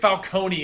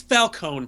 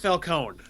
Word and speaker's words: Falcone: We get Falcone in here, which doesn't make any sense to me because the way Falone At least they're finally That drove me crazy.